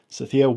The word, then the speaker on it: Sathiya: My name is Brent, and today my special guest is Sathiya of Unleash the Man Within podcast. Sathiya is not just a podcaster, but a coach, a speaker, and an author. Sathiya, welcome to the show.